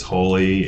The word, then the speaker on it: Holi: looking at holy studios h-o-l-i which is the indian festival of color and celebration but also you know phonetically it's holy holy and so this idea